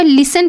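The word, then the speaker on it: listen: लिसन की meaning सुनो अब यहां पर टी साइलेंट रहेगा एल आई एस टी ई एन का लिसन पढ़ेंगे टी साइलेंट रहेगा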